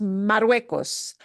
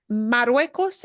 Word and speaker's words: Marruecos: The word you're going to hear in this video is Marruecos. Marruecos es en español Morocco. El país de Morocco se dice en español Marruecos, Marruecos.